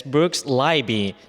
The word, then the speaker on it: Brooks Leiby: We have a wonderful guest here today, and his name is Brooks Leiby.